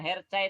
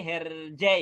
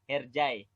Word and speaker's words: Hercai: Kalau itu berarti bacanya yang benar bukan Hercai tapi Herjai ya. Herjai.